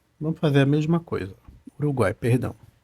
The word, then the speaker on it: Uruguai: falo Uruguai eu falo Uruguai como eu falo Uruguai as três ficam na mesma sílaba igual a Paraguai nesse caso aqui o